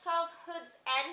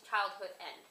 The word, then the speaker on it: Childhood's End: Clarke's Childhood's End, because I always say it wrong. I always say Childhood End, but whatever.